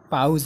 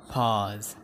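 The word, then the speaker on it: pause: पाज, यसलाई पाउज नभन्नुहोस्, यसको सही उच्चारण हुन्छ पाज, पाज।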